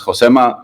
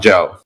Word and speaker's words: Josema: and I was like, "No, my name is Josema. like you can pronounce it wrong but like not Joe.